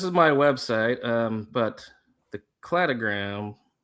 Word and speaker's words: cladogram: So this is my website, but the cladogram. I always say cladogram, and then someone told me it's cladogram because it's clades, But I just call it cladogram.